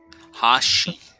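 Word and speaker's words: Ha'shi: character's name thank you h.a apostle apostrophe apostrophe s-h-i hoshi i was pronouncing it wrong i apologize all language is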